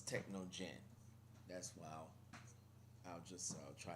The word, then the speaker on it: Technogen: by technogen technogen um it spells t e c h n o gen so it's techno Jen that's why I'll just